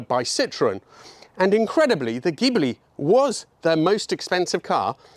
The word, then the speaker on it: Ghibli: Hello everybody, welcome to number 27, this is a 1970 Maserati Ghibli, Italian pronunciation, Spyder.